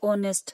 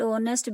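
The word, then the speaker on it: honest: एच is silent so the word ऑनेस्ट begin with vowel sound of ओ, सो वी यूज एन।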